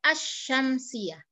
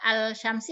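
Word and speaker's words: الشمسية: cara membedakannya gampang saja kalau al-syamsiah kita baca as-syamsiyah Ya tidak alshamsi atau assyams Iya Nah setelah hal itu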